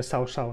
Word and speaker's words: Cao Cao: Fijáis ahí cómo pronuncia Shao Shao, ¿no? Lo he dicho antes que se pronuncia así, pero yo no lo voy a llamar así.